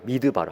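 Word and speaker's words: מדבר: 미드바르. 한번 따라 할까요? 미드바르. 네, 광야는 히브리어로 미드바르인데 말씀이 히브리어로 뭐냐? 다바르예요. 다바르.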